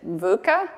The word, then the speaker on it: VUCA: new to me we'll see if I can pronounce it vuca yep yes um the vuca framework in the